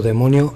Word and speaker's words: daimon: Se le ha llamado demonio a toda entidad interdimensional, pero ¿qué es realmente? ¿Y qué significa la palabra demonio? En religión, ocultismo, folclore, un demonio, del griego daimon, que se pronuncia demon, es un ser sobrenatural,